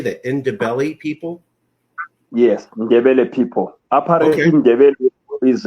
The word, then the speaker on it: Ndebele: rights for the I'm trying to say this, Ndebele. How do you say that? Ndebele people? Yes, Ndebele people.